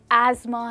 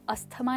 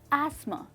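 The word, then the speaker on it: asthma: That's right दोस्तों, English में आप अस्थमा नहीं कहेंगे, आप ये नहीं कहेंगे ही सफ़र्स फ्रॉम अस्थमा, आप कहेंगे ही सफ़र्स फ्रॉम एज़मा, एस्मा। और इसमें क्या साइलेंट है, टीएच, आप कहेंगे एस्मा।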